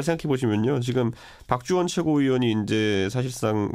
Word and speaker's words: 박주원: 이게 잘 생각해 보시면요, 지금 박주원 최고위원이 이제 사실상 뭐 당권 정지 사퇴. 잠깐만요, 제가 여기서 여러분 발음을 잘해야 돼요.